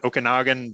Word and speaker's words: Okanagan: I'm gonna say it wrong okay now again Okanagan Valley that that comes down from BC from